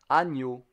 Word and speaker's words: agneau: You have the GN, ny. It's a bit like Kenyan. Agneau.